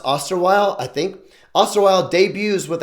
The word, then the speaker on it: Osterweil: Last name, I believe it's pronounced Osterweil, I think.